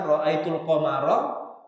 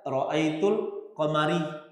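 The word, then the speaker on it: رأيت القمر: Seperti misalkan ra'aitul qamara dibaca ra'aitul qamari. Di harokatnya itu ditulis ra'aitul qamari. Itu kan fatal. Anak-anak pemula dalam bahas nahwu itu pun paham bacanya ra'aitul qamara bukan ra'aitul qamari.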